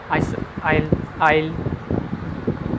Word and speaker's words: isle: Next ਦੇਖਦੇ ਹਾਂ ਜੀ S is not pronounced before L in the following words. Examples island, isle, ਫਿਰ ਇਹ ਵੀ AISLE ਵੀ ਸਪੀਕ ਹੁੰਦਾ ਜੀ ਆਇਲ।